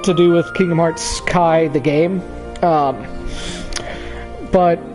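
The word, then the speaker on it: χ: Kai back cover and I do say Kai not key because that letter is pronounced Kai but anyway it's uh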